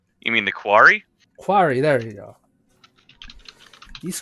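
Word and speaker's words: quori: the name cow can you help me say pronounce their name you mean the quarry quarry there you go these creatures are known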